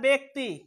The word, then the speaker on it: ব্যক্তি: এই জফলাটা কি হয়ে যাবে, একার হয়ে যাবে, উচ্চারণ কি হবে, একার হবে। যেমন কি হবে স্যার, ব্যক্তি, ব্যক্তি, ব্যতীত, ব্যথিত, ঠিক আছে, ব্যতিক্রম, ব্যতিক্রম, ব্যতিক্রম, ব্যতিক্রম, উচ্চারণ কি, ব্যতিক্রম, ব্যতিক্রম, ব্যতিক্রম।